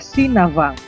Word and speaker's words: Sinabang: Ibu kota Kabupaten Simelu adalah Sinabang. Kalau diucapkan dengan logat daerah adalah Sinavang, yang berasal dari legenda Navang.